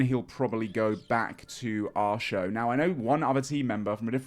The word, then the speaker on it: Artio: It's not Artio. It's pronounced our show.